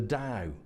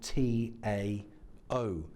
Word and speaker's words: Tao: Lewis refers to as the DAO spell T a oh I had to go all the way to Nanjing in China and wait until after I had given a presentation pronouncing this the Tao for a very nice very polite Chinese gentleman to come up to me at the end and to disabuse me of this notion that it was that